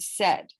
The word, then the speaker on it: said: a.i vowel chunk in the word said s-a-i-d and in that case it sounds like a short e we have words like